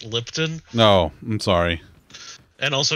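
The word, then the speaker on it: Lipton: making sweet tea and lisian is it that's no you're saying it wrong it's lipon no I'm sorry and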